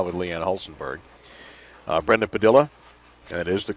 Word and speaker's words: Padilla: match right now with lean Hollenberg uh Brenda Padilla and that is the correct pronunciation and Stephanie Nation who shot up with